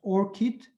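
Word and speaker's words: ORCID: polish authors to provide orchid identifiers orchid is a flower it's pronounced orchid for better to memorize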